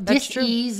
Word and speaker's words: dis-ease: So dis-ease in the body. So people think it's a disease process. It's actually pronounced dis-ease, which dis means opposite, no ease.